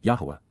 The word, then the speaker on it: Yahowah: rhythmic manner to la for Yahwa. Yahweh, the proper pronunciation of the name of Eloha, God as directed in his Torah, teaching regarding his high